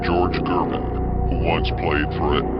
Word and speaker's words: Gervin: Now you see the importance of why the elites put out those comparisons, but the last name Gervin rhymes with Irving, which is a teammate's last name that KD once played with on the Brooklyn Nets, who is Kyrie Irving.